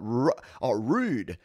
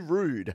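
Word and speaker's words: Roux'd: to this one so this is from uh rude rude spelt uh let's bring up the screen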